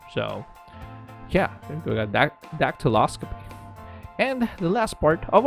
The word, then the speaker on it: dactyloscopy: And it is dactyloscopy. I'm smiling because I kind of doubted myself if I pronounced that right.